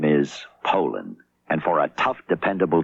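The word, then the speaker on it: Poulan: And for over 30 years, they've been mispronouncing our name. Puland. Po. So, we'd like to remind you that our name is Poland.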